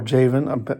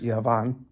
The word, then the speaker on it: Javan: Dedan also and Yavan, that's Yavan with a J. Yavan or Javan, I believe it's pronounced Yavan, going to and fro,